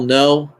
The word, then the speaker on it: Ngu: So again, Kale No, last name is spelled NGU.